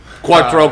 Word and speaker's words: Quattro: FAO 4o this is that's not exactly how you say it that's how grandma would have liked me to say it how dides your wife say it Quattro Quattro Quattro Quattro what's